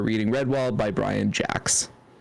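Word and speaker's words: Jacques: yeah yeah he he he prefers it pronounced Jacks mhhm why didn't glimmer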